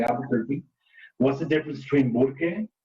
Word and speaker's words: Albuquerque: would say Albuquerque, and there's an extra R in Albuquerque, Albuquerque. And so white people, though, just didn't know how to fucking say Albuquerque, like most things that require you to roll your R's. And so they changed the name officially to Albuquerque so that you wouldn't have that extra R.